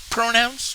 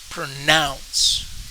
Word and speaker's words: pronounce: not least how do you pronounce this word pronouns no pronounce now we checked answers and yes we got